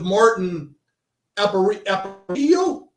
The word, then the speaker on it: Martin Aparicio: So I watched a video with Martin Aparicio. Is that how you pronounce his name?